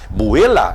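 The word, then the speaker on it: ܒܥܠܐ: Aqui, ó, o aramaico, olha a escrita que linda, ó, que se fala buela. Então a pronúncia para marido dentro do siríaco, buela, escrita siríaca, tanto a ocidental como a oriental é buela.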